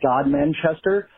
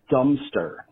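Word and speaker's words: Godmanchester: village that looked like it should have been pronounced God Manchester, but it was actually pronounced Dumpster.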